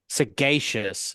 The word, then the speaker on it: sagacious: Sagacious is how it's pronounced.